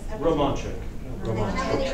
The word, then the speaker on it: Romanchuk: Because Romanchuk. CC is like a CH.